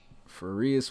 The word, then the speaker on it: Farias: Okay, I think it's Farias. Farias, 94 overall. That's what it was. I remember this. Farias. Yeah. Okay. He said it rhymes with fajitas. He said that in another stream. Nice. Like fajitas. Farias with the fajitas.